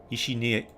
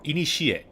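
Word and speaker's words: いにしえ: Ishinie, or inishie. Machigaimashita.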